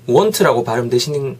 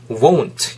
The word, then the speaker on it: won't: 또 포인트는 그때 잡아드렸던 게 will not이 연음화가 축약이 됐을 때는 want라고 발음하시는 게 아니라 won't 이렇게 된다는 거 꼭 다시 한번 잡아가셨으면 좋겠습니다.